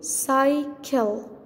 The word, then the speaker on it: cycle: But the next C, the second C, it's followed by letter L. okay? It's not I or E or Y. So we pronounce the second C, we pronounce it K, K, K. Read, try to read. We say cycle, cycle, cycle.